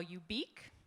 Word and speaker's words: ubique: So, next is a new word I call ubique. You pronounce it like unique, or if you prefer, you can spell it like Philip K.